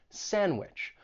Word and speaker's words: sandwich: You may not pronounce the D when it comes between two consonants. And again, you hear this in words like sandwich or lands.